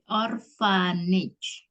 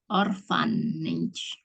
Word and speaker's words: orphanage: Orphanage. Kan PH itu dibaca F. Orphanage. A itu dibaca E. Orphanage. G-nya dibaca J.